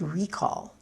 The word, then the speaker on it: recall: just notice that I use the word recall as a noun stress on the first syllable in the beginning of this episode I used to a verb recall accent on the second syllable if you recall the